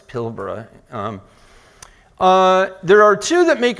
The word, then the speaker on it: Pilbara: By the way, it should be pronounced Pilbara, although I'll go to the American pronunciation inadvertently, I'm sure in this presentation, is Pilbara. Americans tend to say Pilbara, it's Pilbara.